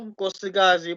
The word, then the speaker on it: Nkosikazi: Molo Nkosikazi Potelwa. Just drop the E at the beginning of Nkosikazi.